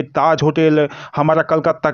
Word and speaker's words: कोलकाता: Actually जब मैं south में था, कर्नाटका सेंट्रल यूनिवर्सिटी में, तब सब लोग कोलकाता को कलकत्ता प्रोनाउंस करता था, तो इसलिए मेरे मुंह से ये प्रोनाउंस निकल गया। हालांकि अब इसका प्रोनाउंस कोलकाता है।